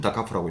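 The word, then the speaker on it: 다카포: DC는 다카프라고 읽고요.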